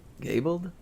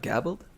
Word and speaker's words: gabled: a pun being punny yes that's how it's pronounced gabled not gabbled no way no way